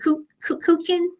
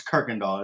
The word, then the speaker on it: Kirkendall: are most people from Houston can pronounce it right away because they know that there's a street named Kirkendall, and it's Oh, okay.